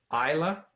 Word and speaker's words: Islay: distillery is on the island of isla off the west coast of scotland often mispronounced it's spelled i-s-l-a-y and it's pronounced isla not islay or anything like that